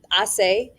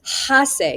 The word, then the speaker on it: hace: In Spanish, we use hace for our weather phrases. And remember in Spanish, the H is silent. So you don't say hace, you say hace.